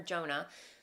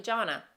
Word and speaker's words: Jonna: I was mispronouncing your name. I was calling her Jonah. Her name is actually Jonna.